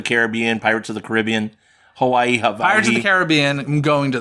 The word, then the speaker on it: Hawaii: people say also it's Hawaii right they pronounce it with a V I haven't I didn't